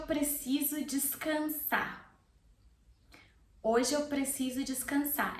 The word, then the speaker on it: descansar: Hoje eu preciso descansar. As I said before, descansar has an R. I'm not pronouncing the R. It's optional.